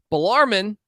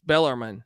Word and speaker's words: Bellarmine: __ ] intriguing man blarmon which I I pronounce this incorrectly right it's Bellarmine yeah Bellarmine yep out of